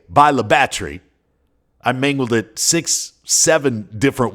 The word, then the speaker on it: Bayou La Batre: And before you even try to pronounce it, let me save you the embarrassment, because I've already suffered the embarrassment. It's Bayou La Batre. Though the locals often just say Bayou La Batre, I mangled it 6-7